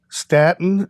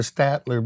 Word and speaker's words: Statler: the brothers like that here's the mispronunciation statin stratton station stenton stattler there's your one right there we showed up one time it was a poster with us and it said the statler brothers we are not